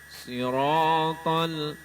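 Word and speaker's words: صراط: Siratal, bacanya sirat.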